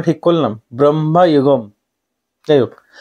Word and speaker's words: Bramayugam: উচ্চারণ ঠিক করলাম, ব্রহ্মায়ুগম।